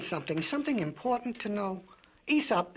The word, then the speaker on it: Aesop: Spell it. Well, A-E-S-O-P.